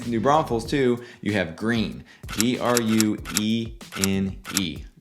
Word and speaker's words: Gruene: And then within New Braunfels, too, you have Green. Gruene. It's pronounced green like the color.